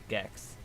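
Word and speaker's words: GEQ: That's Gex. Q is pronounced with like an X, not a Q.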